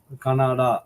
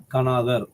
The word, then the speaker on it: கனாதர்: இந்த founder of வைசேசிகா ஃபார் கனாதர், கனாடா அப்படின்னு நம்ம சொல்றோம் உச்சரிப்புல. தமிழ்ல சொல்றீங்கன்னா கனாதர் என்று உச்சரிக்கலாம். இவை நமக்கு என்ன விஷயங்களை போதிக்கிறது என்றால், மெட்டாபிசிக்ஸ், புலன் கடந்த ஒரு அறிவியலை நமக்கு தருகிறது.